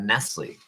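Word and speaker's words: Nestlé: And I asked her about, she said, and I also asked her about Nestle. She said, yeah, it's spelled with an S at the end. It's a silent S.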